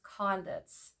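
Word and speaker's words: conduits: believe it or not it actually is uh pronounced condits um yeah we are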